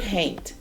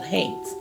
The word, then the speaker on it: haint: The word haint is a colloquial way to pronounce haunt, which is another word